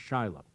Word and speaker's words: Shiloh: The very birth of Judaism took place in a town called Shiloh, spelled like Shiloh, but pronounced Shiloh.